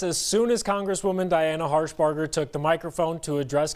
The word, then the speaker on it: Harshbarger: think I called her harburger earlier I think I got it wrong it's no harburger harsh harsh Barger I